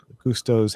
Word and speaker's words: Gusteau: How do you pronounce the guy who originally owned the restaurant? Gusto? Gusto.